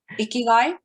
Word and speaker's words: Ikigai: How am I supposed to pronounce it? Ikigai.